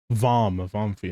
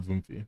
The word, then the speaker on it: Vomfi: Vomfi, not Voomfi.